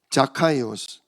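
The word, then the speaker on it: Ζακχαῖος: 어 이스라엘 나라 발음으로는이 원래 성경에 그대로 써 있는 발음이에요. 자카이오스.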